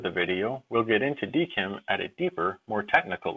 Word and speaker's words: DKIM: video we'll discuss what dkim commonly pronounced deim does and why you